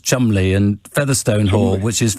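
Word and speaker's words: Cholmondeley: family is called troll mundley who apparently you pronounced chumley and featherstone hall which is fanshawe anyway that's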